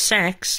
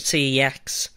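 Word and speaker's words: CeX: it from CX well it's technically pronounced sex but sometimes I just like to call it C ex or CX anyways this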